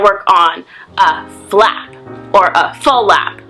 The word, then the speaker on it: flap: on black or a full lap as almost everyone calls it even though it's spelled FL AAP people say full lap because it has two sounds so you can try